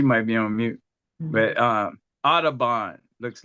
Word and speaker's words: Audubon: Audubon, yes, you did. Yes. Audubon.